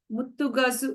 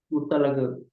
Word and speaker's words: Muttalagu: And lots of respect to Vinod Babu, Ashok sir, Santosh sir, Muttu Gazu, if I'm getting that right. Muttu Gazu, what's his name? Muttalagu.